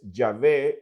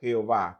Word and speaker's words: Yahvé: la afirmación de que la mejor pronunciación del nombre de Dios es Yahvé y no Jehová.